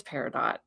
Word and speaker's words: peridot: It's peridot. It's peridot. Even with a British accent, it's peridot.